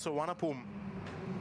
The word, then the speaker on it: Suvarnabhumi: question but how is it pronounced it's it's pronounced San don't let the spelling fo you when I